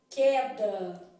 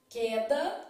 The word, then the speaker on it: queda: Não falo guerra né é o que acontece em queda queda não falo u tô vendo Então nesse